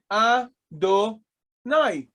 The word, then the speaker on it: Adonai: Adonai.